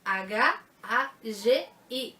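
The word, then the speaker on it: Hagi: Engraçado que muita gente fala Had. E uma vez eu já fui até corrigida, assim, no meio de um evento de anime. É Had. Não é Had. Se escreve H-A-G-I. É Hag.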